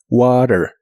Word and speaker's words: water: La T de water en inglés americano se suele pronunciar como water.